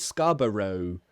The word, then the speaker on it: Scarborough: It's the same pronunciation. Americans pronounce it Scarborough.